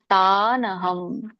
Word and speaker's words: ತಾನಹಂ: ಸಮಶೋಭಾನ್ ಶಿಪಾಮಯಜಶರಮಶುಭಾ ಆಸುರಿಶ್ವೈವ ಯೋನಿಶು ಒಂದು ಉಚ್ಚಾರಣೆ ನೋಡೋಣ ತಾನಹಂ ತಾನ್ ಅಹಂ ಅಂತ ಎರಡು ಪದ ತಾನಹಂ ಹಾಗೆ ಹೇಗಿದೆ ಹಾಗೆ ಹೇಳಿ ದೃಷತಹ ದ್ವೇಷ ನಾನು ಹೇಳಿದ್ದೀನಿ ನಿಮಗೆ